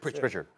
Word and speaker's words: Pritchard: They even put two on the ball with Petrick. If you see some of the highlights, they literally putting two on the ball with the guy Petrick. If I'm a coach. Pritchard.